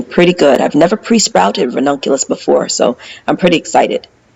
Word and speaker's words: ranunculus: I'm going to plant ronculus ronculus yeah that's how you say it ronculus so I'm